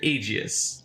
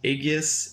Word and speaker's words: Aegis: a quad 40 millimeter Aegis Aegis Aegis I'm pretty sure that's how it's pronounced but it's pretty much